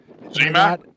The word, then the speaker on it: Zmac: my apologies here because we've been pronouncing their name wrong the whole time or I have been. Zmac. Yeah, but I I said Zech, I think, and Pam made sure that she spelled it Zmac with with like three E.